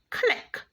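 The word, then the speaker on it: clique: good let's look now at the second word click c-l-i-q-u-e now this word is spelled differently from the first clip and it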